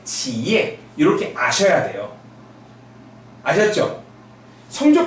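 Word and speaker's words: 企业: 일성으로 읽으면 치라고 읽고요. 삼성이니까 치고요. YE는 예라고 있습니다. 그래서 기업은 지예 이렇게 발음이 됩니다. 여러분 기업이 중국어로 뭐라고요? 예, 지예 이렇게 아셔야 돼요.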